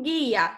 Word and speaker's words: guia: A mesma coisa acontece no exemplo guia. Você pronuncia o U? Não, nós não conseguimos pronunciar o U.